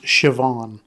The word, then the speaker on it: Siobhan: the irish names is one of my favorite names is s-i-o-b-a-h-n it's pronounced siobhan again yeah you know